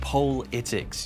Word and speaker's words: politics: It's actually pronounced poll-itics. You've got to make something of the extra L.